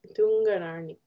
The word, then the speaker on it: Tunganarniq: And the second one is Tunganarniq.